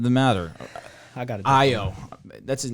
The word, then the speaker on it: Ayo: Ayo.